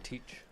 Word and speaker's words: Teach: I'm excited to see Edward Tetch come in. That's Blackbeard. It's Teach. Oh, it's Teach?